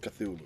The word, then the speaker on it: Cthulhu: Call of Cthulhu, right? Yep. Is that how you pronounce it?